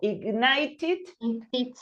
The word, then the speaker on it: ignited: If you have a T, I, and an N close to it, the ed, the e of the ending ed is pronounced. So ignited and preserved.